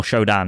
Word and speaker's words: SHODAN: essentially what happens to Shodan or Shodan is probably the way you should pronounce it is uh she be